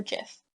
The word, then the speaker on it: GIF: wondering how I made my gift or jiff however you want to pronounce it I use easy